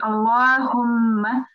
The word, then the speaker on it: Allah: word of Allah so we have to pronounce it with a thick mouth or a full mouth because it's preceded by The Stroke of butter so it will be Allah and when we stop